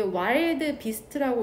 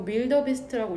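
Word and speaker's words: wildebeest: 이게 와일드 비스트라고 읽기도 하고 밀더 비스트라고 읽기도 하더라고.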